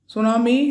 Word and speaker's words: tsunami: Tsunami is a Japanese word derived from two Japanese words. Su, T is silent, mean harbor, and tsunami mean waves.